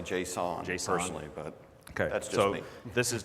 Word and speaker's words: JSON: so now people use how do you pronounce it Jason or Json I say Json personally but that's this